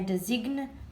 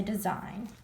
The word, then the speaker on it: design: And in design, the g is silent. We don't say design, we say design.